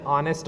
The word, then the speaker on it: honest: Hence, we say an honest man. It's an honor because H is silent. H is silent in honor and honest.